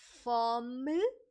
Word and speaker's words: fome: So you can simply say estou com fome. Okay, be careful with that E. The pronunciation is very soft.